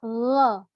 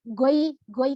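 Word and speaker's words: غير: nyerempet-nyerempet kVA Ya beda kalau ke ini adalah woi woi juga bukan goygoy kalau orang Jawa nih Ya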